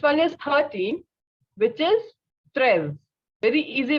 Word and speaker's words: treize: Next one is 13, which is treize. Very easy pronunciations, very easy to learn and understand both.